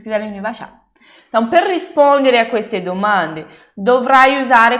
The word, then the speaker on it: rispondere: Per rispondere, Isabela, não é rispondere? Não, não é rispondere, per rispondere.